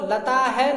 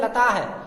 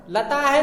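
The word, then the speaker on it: लताः: और लता के साथ यदि विसर्ग लग जाएगा तो हम इसको लता है नहीं पढ़ेंगे। बहुत सारे छात्र इसको पढ़ते हैं लता है, लता है नहीं पढ़ेंगे, इसको पढ़ेंगे लताह। लताह, आ का ही उच्चारण इसमें लास्ट में निकलेगा।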